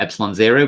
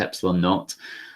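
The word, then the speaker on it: ε₀: a new symbol it's called epsilon naught or epsilon zero but it's usually pronounced epsilon naught um and epsilon naught is the permittivity got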